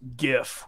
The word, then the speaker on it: GIF: yes it is pronounced gift with the hard G thank you for yes thank you because the the G stands for graphic so you go graphic not drag right and